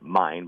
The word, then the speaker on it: Main: River here in Frankfurt they pronounced it mine but it's spelled m a i n and it'll be it'll